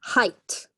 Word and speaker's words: height: there is another so height and bit of a tricky one like ght remember is just pronounced like a T which is often actually